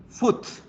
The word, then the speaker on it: foot: Sus pronunciaciones van a ser con estas vocales. Entonces, zapato, pie, foot.